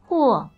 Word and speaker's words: Huo: Also, the other thing we have to find out is how you actually pronounce his name, because apparently his name isn't Ho. I called him a Ho like 50 times in the other video. Huo.